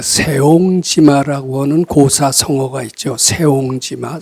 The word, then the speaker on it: 새옹지마: 세옹지마, 세옹이 색자인데 그걸 새로 발음하는 거 같더라고요.